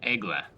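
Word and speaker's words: Aigle: the premium egla and i did look up how to pronounce it properly because i was pretty sure a geo was wrong which is uh the way that everyone else says it and it's basically just eagle in french so egla now for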